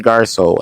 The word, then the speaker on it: Garceau: renee am i saying that right haley renee garco haley renee is that yep is that a